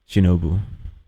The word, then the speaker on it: Shinobu: I just feel sad for Shinobu. Shinobu. Right, that's the way to pronounce the name.